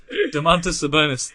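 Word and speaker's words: Domantas Sabonis: in the league he might be de Montes de Monte Sabonis there you go thanks for the clarification yeah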